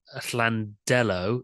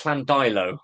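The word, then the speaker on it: Llandeilo: Jones from Llandello in Diffid. Am I pronouncing that right? I think it's Flandilo, I think. Llandilo, who is very much a person after my own heart here.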